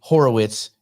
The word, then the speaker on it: Horowitz: now they're and now instead of pronouncing it correctly Horowitz it's just Andre Wars uh because that's pretty